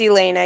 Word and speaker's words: Elena: So, do you pronounce that Elena or Elena? Elena. Either way is fine, but it's Elena.